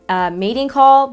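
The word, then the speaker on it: Matte-in Call: it's shade number 114 matingcall but it's spelled matte in call this like a perfect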